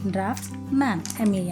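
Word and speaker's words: draughtsman: इसका स्पेलिंग है DRAUGHTS, ड्राफ्ट्समैन, मैन। इसी प्रोनाउंसिएशन से और एक वर्ड है, उसका स्पेलिंग है DRAFTSMAN, ड्राफ्ट्समैन।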